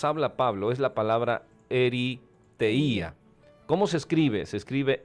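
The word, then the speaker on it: ἐριθεία: expresiones que nos habla Pablo es la palabra eriteía Cómo se escribe se escribe e r y t h e i A se escribe eriteía y ahí la encontramos y quiere decir literalmente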